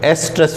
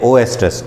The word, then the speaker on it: एस्ट्रस: देखोगे आपकी किताब में, तो एस्ट्रस उच्चारण है, लेकिन हिंदी में इसको लिख दिया ओ एस्ट्रस। ओ साइलेंट है, लेकिन तो भी हिंदी की किताब में ओ एस्ट्रस छपा हुआ है।